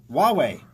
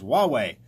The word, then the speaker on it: Huawei: Huawei, as we've learned to pronounce in the previous few shows, Huawei, the Chinese cell phone company, busted for cheating in benchmarking tests.